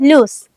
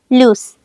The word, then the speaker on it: loose: इसे हम जल्दी से बोलते हैं लूस, इसे ज्यादा खींचते नहीं हैं, लूस।